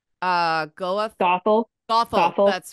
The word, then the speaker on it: Gothel: But like Well, if I'm there's the whole relationship with what's how do you pronounce her name? Goeth. Gothel, Gothel.